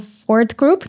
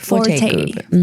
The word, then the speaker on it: Forte Group: And you're also a founder of Fort Group. Did I pronounce it correctly? Forte Group.